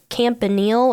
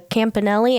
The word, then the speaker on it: Campanile: We have a bell tower on campus called the Campanile or the Campanelli. I've heard it pronounced both ways.